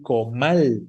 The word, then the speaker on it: comal: ¿Cuál es la sílaba tónica de la palabra comal? Exacto, mal, ¿no? La última sílaba, efectivamente.